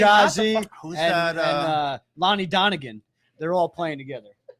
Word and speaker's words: Lonnie Donegan: Lonnie Donegan. They're all playing together. It's how it's said, Lonnie Donegan.